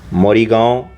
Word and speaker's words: मोरीगांव: मोरीगांव या मोरीगांव ऐसे ही उच्चारण किया जाता है।